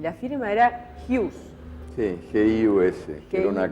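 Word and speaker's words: Giús: reírse tenía una firma, y la firma era Hughes. Sí, G-I-U-S, que era una castellanización de mi primer apellido, que se escribe Hugues, Hughes.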